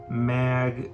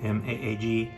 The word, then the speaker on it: Maag: compressor limiters and one mag audio i think that's how you pronounce it maag eq4 which sounds amazing